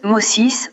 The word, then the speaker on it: Moses: En effet, le nom Moïse en anglais se prononce Moses ou Moshi en hébreu et constitue une piste intéressante dans notre recherche.